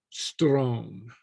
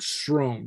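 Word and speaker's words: sròn: the same pronunciation okay but the SR is Strone okay okay okay Strone and Strone not Stone not Stone okay Strone okay right okay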